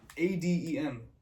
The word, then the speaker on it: Adem: Cuz like it It's like A D E M. It's like It looks like it's Adam, but it's Adem.